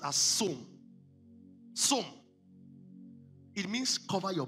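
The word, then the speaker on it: צום: The word is som. What is som? S-T-T-S-O-W-N. T-S-O-W-N is pronounced as som.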